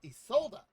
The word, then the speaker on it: Isolda: Ah, Isolda. That's how you say her name.